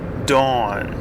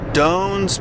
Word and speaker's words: Doan: Anyway, her name is Doan, okay? Doan. But my relatives all pronounced it Doan. Doan gonna come over here and get that thing. Okay, so I thought as a little kid her name was Doan.